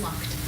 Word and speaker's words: Lucht: And the last request, Lisa Lucht, is that pronounced correctly? It's Lucht. Lucht.